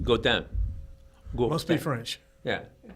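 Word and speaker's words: Godin: down which they called golden but I it's pronounced go down go let's play French yeah well go they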